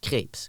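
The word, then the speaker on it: crêpe: they were talking about crepes, like the French pancake crepe. Yeah. But this guy was American, and he pronounced it like crepes, which is German for cancer.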